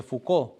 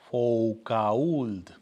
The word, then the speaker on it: Foucauld: Carlos de Foucauld, San Carlos de Foucauld o San Charles de Foucauld. Para los que quieren escribir, el apellido sé que él es francés, se escribe F-O-U-C de casa A-U-L-D de dedo. Foucauld.